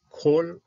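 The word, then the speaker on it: כל: Mi kol ra. This is a closed syllable, so this is a kamis hatuv. Okay? A kamis hatuv is a kamis that has to be pronounced as an O.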